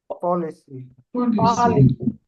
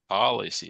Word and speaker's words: policy: So it should be what? Policy, not policy. Policy. C'est pas police.